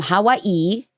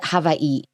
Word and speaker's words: Hawaii: Hawaii or is it Havi? Do you pronounce the W in a I'm thinking about it in like a European way. Hawaii, I think.